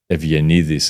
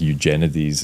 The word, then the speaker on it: Eugenides: So I recently read Middlesex by Jeffrey Evianidis, as it's pronounced in Greek, but I think Eugenides as it's pronounced in the US, which won a ton of prizes like nearly 25 years ago.